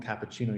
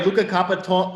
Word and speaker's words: Luka Kapetanic: I kept calling him cappuccino yesterday, but I know it's not cappuccino. Wait, hold on. Okay, Luka Kapetanic. Everybody, Luka Kapetanic.